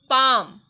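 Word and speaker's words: palm: काफ, पाम। अब देख लो यहाँ पे एल जो है हर एक वर्ड में साइलेंट है।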